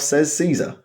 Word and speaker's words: Caesar: fallout it's kaizo or caesar which one is it um everybody apart from the man himself says caesar because that was the accepted english pronunciation at the time of the league except